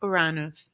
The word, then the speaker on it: Uranus: How would you pronounce that? Is that Artifacts of Uranus? Uranus.